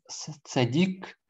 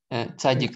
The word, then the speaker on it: цадик: Цадик. Цадик, наверное, да? Цадик. Цадик. В современном ашкеназском произношении, конечно, говорят цадик, но правильное ударение цадик.